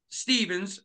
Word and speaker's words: Stephens: just representing in Glasgow, Scotland, the great Chris Stevens.